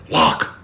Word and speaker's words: Loch: day in 1933 and I gotta say it properly the lock lock that's the monster is